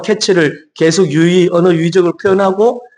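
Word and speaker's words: קֵץ: 그리고 끝 이이이 뜻이 이제 히브리로 캐츠라고 하죠. 그러니까 케이츠와 캐츠가 비슷하잖아요. 그 발음이.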